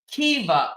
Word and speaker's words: Kea: much Bonnie appreciate that she said it's pronounced K Kia said it's pronounced Kea thank you Kea I